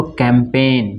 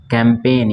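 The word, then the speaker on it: campaign: अब यहां पढ़ेंगे इसको इसको कैंपेन क्या पढ़ेंगे इसको कैंपेन यहां पे जिस साइलेंट है ठीक है ना कैंपेन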